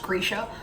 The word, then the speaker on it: Grisha: I say Grisha still, but like having heard it, it's apparently pronounced Grisha.